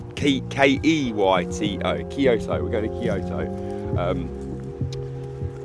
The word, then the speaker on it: Kyoto: Bearing in mind it's spelled K-O-Y-T-O, Kyoto, K-E-Y-T-O, Kyoto. We're going to Kyoto.